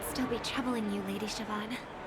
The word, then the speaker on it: Siobhan: Siobhan, that's how you pronounce it.